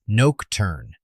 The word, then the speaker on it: Nocturne: His home world Nocturne is Noke-turn, silent final e.